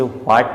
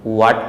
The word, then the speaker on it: what: तो first word हमारे पास दिया है WHAT, हम इसे व्हाट नहीं वाट पढ़ते हैं। यहाँ पर एच साइलेंट हो जाता है क्योंकि यह डब्लू के बाद आ रहा है।